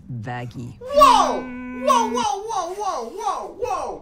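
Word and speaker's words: Vaggie: after the best thing ever what actually it's pronounced vaggy whoa whoa whoa whoa whoa whoa whoa whoa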